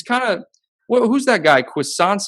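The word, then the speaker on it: Cuisance: of who's that guy croissance how do you pronounce it for you guys uh mikhail cousins yeah yeah yeah like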